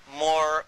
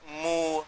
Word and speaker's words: Moor: What connects it up is even the word Moor, because it's pronounced differently in different parts of Africa. And they call themselves Moor, Mu, Mur. There's all variations of that, so that even the name Muir.